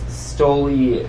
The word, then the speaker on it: Stoli: Stoli. It's Stoli. Just Stoli.